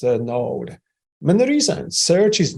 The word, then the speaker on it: Knowde: through or introduction so what is node uh pronounced node note it's a B2B Marketplace